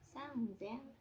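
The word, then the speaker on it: 三千: jadi niseng lalu ee ada angka khusus lagi nih seperti angka 3.000 dan angka 8.000 punya pengucapannya sendiri-sendiri 3.000 menjadi sang Zen dan angka 8.000 menjadi Hasen Nah itu perlu diingat-ingat karena pengucapannya beda dari yang lainnya nah kemudian ee kalau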